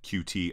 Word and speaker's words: Qt: for all of our QT objects, or Qt objects is actually how you pronounce it. I just can't bring myself to saying cute, but I guess saying cutie over and over again isn't weird.